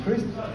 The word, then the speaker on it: Christ: My name is Christ. Spelled like Christ, rhymes with wrist.